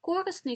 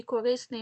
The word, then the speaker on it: корисний: тих наголосів які потрібні є наголос які мають подвійний корисний корисний мабуть та мабуть помилка помилка байдуже байдуже і так далі їх також не